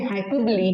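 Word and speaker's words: hyperbole: तो क्या हो जाएगा हमारा हाइपरबोले, जो मैंने आपको याद करवाया था, एक्चुअली इट्स हाइपरबोली। हाइपर की स्पेलिंग लिखी और बोले कर दिया, है ना?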